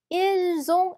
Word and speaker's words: ils ont: 발음도 ils ont, elles ont, ils sont, elles sont 이어서 얘는 쓰 발음, 얘는 즈 발음이 납니다.